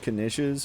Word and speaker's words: knish: Right, like, but like a mashed potato type thing, I think that's basically what the knish was. Damn it, now I'm pronouncing with the hard K. Basically what a niche was.